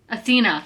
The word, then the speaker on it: Athena: athenia oh my gosh the Greek goddess that's how you say it right Athena Athena that's how you